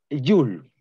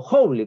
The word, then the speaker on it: Joule: viendo esta nueva unidad llamada Joule o Joule, como quieren ustedes pronunciarlo.